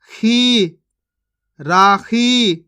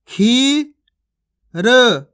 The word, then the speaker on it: खीर: उच्चारण करके पढ़ा है आपको टिम खिर चिल इस प्रकार से नहीं पढ़ना खीच खीच के पढ़ना है चील टीम खीर आप हमेशा एक बात